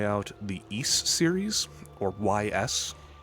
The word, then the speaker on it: Ys: the Ys series, or YS. It's spelled YS, it's pronounced Ys.